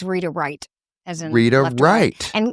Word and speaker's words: Reith: gets it wrong, but my last name is actually pronounced right as in right hand.